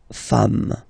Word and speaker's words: femmes: and as we said, you don't pronounce it, so you get des femmes, okay?